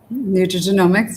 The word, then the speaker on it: nutrigenomics: How do you How do you pronounce that? Nutrigenomics, yes.